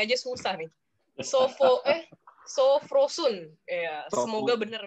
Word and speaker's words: Sophrosune: Sofrosun, ya yeah, semoga benar bacanya ya. Sofrosun. Nanti bener nggak mau baca, bener nggak sih mau? Oh, kalau bahasa Yunaninya harus pakai Y, sofrosinye.